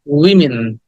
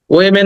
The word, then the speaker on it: women: And নারী সম্প্রদায়, কষ্ট পেও না, দিস ইজ উইমেন। আমরা এটাকে ওমেন বলি, উইমেন বলি, উইমেন, উইমেন, উইমেন, উইমেন, উইমেন। ওয়েমেন না, ওয়েমেন না, ওমেনও না, উইমেন, উইমেন। ওইটাকে শর্ট ই বলতে হবে, শর্ট ই, উইমেন।